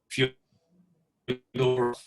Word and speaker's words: Fyodorov: Another is a Russian of the 1800s named Nikolai Fyodorov.